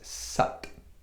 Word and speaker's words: Sat: however when we go when we do the korea it's actually more closely pronounced as sat and there's going to